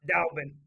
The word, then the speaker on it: Dalbin: It's just more of a, like, and I think, is it Dalbin? I just want to make sure I'm saying it right. Dalbin. Okay, Dalbin.